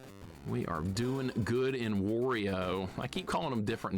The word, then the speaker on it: Wario: Technically, Wario, like Mario with a W.